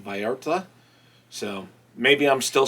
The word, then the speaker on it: Vallarta: I guess there's no emphasis on the L's. It's like Vallarta.